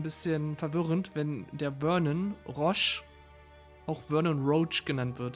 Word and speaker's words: Roche: Der Vernon Roach ist von seiner Aussprache einfach falsch. Der wird in anderen Sprachen ganz anders gesprochen. Ich glaube, im Polnischen heißt er Roche oder Roche oder irgendwie so ähnlich.